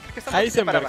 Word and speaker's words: Heisenberg: Heisenberg se dice. Anda. Heisenberg. Sí, es Heisenberg. Mm. Pero se dice con la ha. No con J.